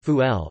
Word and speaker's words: فول: Fava beans Arabic, full pronounced fuel are a common staple food in the Egyptian diet, eaten by rich and poor alike.